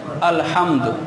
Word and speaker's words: الحمد: اب دین کے علم کو دیکھا جائے، الحمدللہ رب العالمین ہر بندہ پڑھتا ہے الحمد، یہ ہا حلوے والی ہے، اور اکثر لوگ پڑھتے ہیں الحمدللہ ہا لاہور والی، الحمدللہ۔ اب اس میں فرق